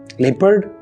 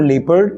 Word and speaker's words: leopard: lion the next word second word is this leopard no it's not leopard it's leopard leopard third word in our list